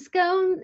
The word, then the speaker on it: scone: point is that yeah I like that it rhymes with stones that's really good yeah